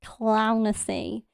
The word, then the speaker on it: Clownessy: channel is literally called Clownessy. It's it's Lunacy, but instead of Lon, it's Clown.